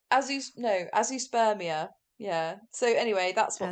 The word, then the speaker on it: azoospermia: So A-Z, like a zoo, a-zoo, and then sperm, and then I-A.